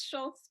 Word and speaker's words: Schultz: I have my friend Schultz. How are you? Did I mispronounce it or anything? I'm good. Oh, it's Schultz, but Okay, it's fine.